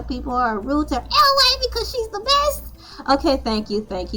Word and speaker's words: Elay: My name is LA, pronounced like LA, like the city I'm not from there, but I'm breezy.